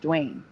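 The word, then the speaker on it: Dwyane: It's pronounced Dwayne.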